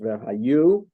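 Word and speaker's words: וְהָיוּ: Supposed to be the asterisk there leads to the small print that says, even though it looks like the word ve'haya, it's supposed to be pronounced ve'hayu.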